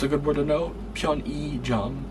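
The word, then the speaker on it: 편의점: But in this word here, pyeonijam, it uses that same pronunciation. So that's a good word to know, pyeonijam. So it uses that e sound there.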